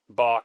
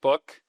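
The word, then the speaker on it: Bök: Bach. Well, no, it's actually pronounced book.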